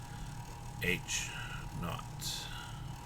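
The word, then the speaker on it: H₀: subscript of zero now the way that we pronounce that generally speaking in statistics is h naught not being more of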